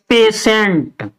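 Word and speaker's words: patient: ले है तो ऐसे ऐसे शब्दों में भी हम इसका उच्चारण किसके से करते हैं श से करते हैं टी आई आई एक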